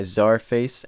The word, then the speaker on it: Czarface: to be reviewing the album super what by zarface and mf doom it is definitely pronounced as our face as they made it